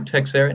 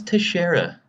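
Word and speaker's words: Teixeira: glover oh glover glover texara no it's teshera you're getting killed i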